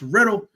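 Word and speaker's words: RITL: That's R I T L pronounced Riddle.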